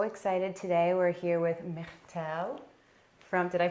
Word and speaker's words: Myrtille: We're here with Myrtille from, did I pronounce it okay?